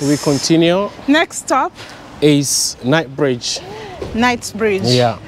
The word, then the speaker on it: Knightsbridge: continue next stop is night Bridge night's Bridge yeah nights like K or nights like n like night with K yeah okay I don't know why it's called night Bridge because of the night